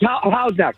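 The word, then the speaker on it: Houghs Neck: But you said you're from Hoseene Neck because is it Am I saying it right? Hosene Neck. Yeah, it's How's Neck? How's Neck? Sorry.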